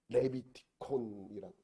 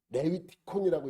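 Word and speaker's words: Λευιτικόν: 여러분 보면 넘겨보면 레비티콘이라고 붙인 거예요. 레위티콘이라고 읽어도 돼요.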